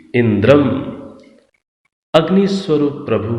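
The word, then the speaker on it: इन्द्रं: अब मंत्र के अंदर इन दोनों पदों के साथ ऊपर बिंदी लगी हुई है, तो उच्चारण क्या कर रहे हैं? अग्निम, इंद्रम।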